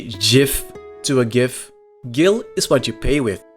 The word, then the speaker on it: Gil: gatherers also fun fact it's pronounced Gil not Jill you don't say GIF to a gif Gill is what you pay